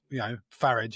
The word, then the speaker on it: Farage: I call him Farage, not Farage. Yeah, he doesn't deserve the appropriate pronunciation. He loves Europe so much, so let's not give him a European pronunciation. Let's give him a nice Anglophone one.